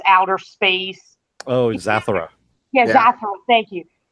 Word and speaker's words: Zathura: Oh, Zathura.